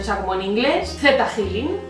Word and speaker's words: ThetaHealing: mayoría de los vídeos yo he visto que lo pronuncian teta healing pero a mí me suena mal me suena a otra cosa lo de teta healing y entonces me gusta decirlo Z healing porque va con una h o sea como en